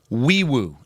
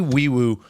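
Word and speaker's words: Nwaiwu: His name is Fabeti Wiiwoo is how you say that name. NW AI WU is how you spell it. But it's Fabi Wiiwoo.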